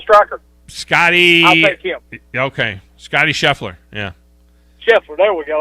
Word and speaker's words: Scheffler: jefferson there we go i was wanting to call him sheffield i didn't want to say it wrong not xander schofly scotty scheffler so just we gotta make sure we get the right guy scotty scheffler just so you know